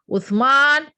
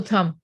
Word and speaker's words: Uthman: speech you have to pronounce it nicely uthman who it cannot become utham if you are using